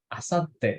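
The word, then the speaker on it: あさって: Yang warna merah nih, bacanya Lusa. gimana? Asati. Asate. Lusa, iya. Asate.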